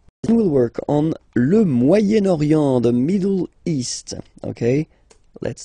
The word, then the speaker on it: Moyen-Orient: So it's interesting here because normally if you would have only this word here, you would pronounce it moyen, moyen, okay? But then as you've got this vowel after, okay, you've got to make the liaison between the two.